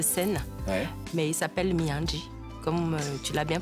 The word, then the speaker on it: Miandry: Mais il s'appelle Miandji, comme tu l'as bien prononcé tout à l'heure.